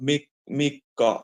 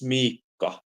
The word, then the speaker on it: Miikka: So it's instead of Mikka, it's Miikka, if it's with 2 I's, as I understood.